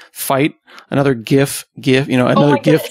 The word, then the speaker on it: GIF: of the GIF people I'm a gif person found you Scott we need to stick together because there are some cool gift people out there these hard G people just mean including the invent including the inventor of the format which is also wrong I know oh my